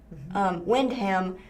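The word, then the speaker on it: Wyndham: It's Wind, spelled with a Y. Windham to open in January in Northwest Springfield.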